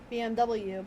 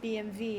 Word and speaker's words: BMW: Yeah, so the Germans pronounce their W's with a V.